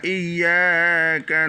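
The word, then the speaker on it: إِيَّاكَ: Ici, j'ai mis deux Y et deux A. Ça veut dire cette syllabe là, non seulement le Y doit être dur, mais le A aussi doit être une voyelle longue.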